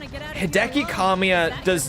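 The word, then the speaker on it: Kamiya: Kamya that is actually how it's pronounced. It's Kamia.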